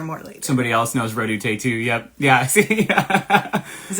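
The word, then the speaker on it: Redouté: I don't think I pronounce his name right. Do your best. Is it Joseph Pierre Redoute? Redoute, yep.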